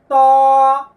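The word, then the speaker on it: ط: এই হরফটির নাম হলো ত জিহ্বার আগা বের করতে হবে আইনা হাতে নেন জিহ্বার আগা এই যে এই যে সামনের দাঁতের গোড়ার সঙ্গে লাগিয়ে ভিতরে একটু মোটা করতে হবে ত ত আয়না দেখে দেখে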